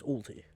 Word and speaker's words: Ulti: Already, It's ulti. Whatever, you keep on saying it wrong every 2 seconds. It's ulti.